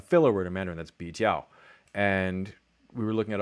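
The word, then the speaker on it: 比较: pronounced bi jiao, and it was almost never bi jiao. It was like biao, brao, biao.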